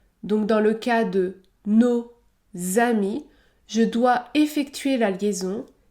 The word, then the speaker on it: nos amis: dans le cas de nos amis je dois effectuer la liaison le S se prononce et produira le son Z Z nos amis nos amis nos amis la liaison est obligatoire